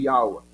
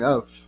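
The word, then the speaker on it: יהוה: Em inglês, seria Yawa. Ou se for pronunciar em hebraico, seria alguma coisa como Yav. Yav.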